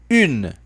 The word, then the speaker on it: une: Faça atenção ao biquinho da palavra une. Une. Você vai fazer o que aqui? Vai falar o i e fazer o biquinho.